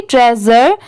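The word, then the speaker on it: treasure: जर जैसे मैंने बताया एस की साउंड स की नहीं आएगी ज की आएगी ट्रेजर तो ये जर हो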